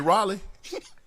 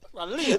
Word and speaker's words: Raleigh: You mean Raleigh? Raleigh. Oh, okay. Close enough. That's how you say it. How you say it again? Raleigh. You for real? Yeah. But it's spelled R-A-L-E-I-G-H. Raleigh. That's Raleigh. Close enough.